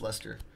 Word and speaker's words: Leicester: Curtis saying it blows my mind that Lester is pronounced Lester. It is. It's the proper pronunciation, of course.